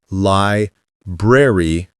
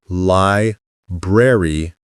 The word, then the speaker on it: library: Break it down. Lie. Breer. E. Three chunks. Lie like lie. Breer like br. Cold sound with an R. E like C. Put them together smoothly. Lie. breer e. Another trick, don't think of it like berry, the fruit. Think of it as lie bre.